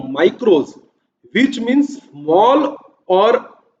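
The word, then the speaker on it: μικρός: Micro एक Greek word है था जिसको प्रोनाउंस किया जाता था माइक्रोस, विच मीन्स स्मॉल और ए मिलियंथ पार्ट, छोटा हिस्सा।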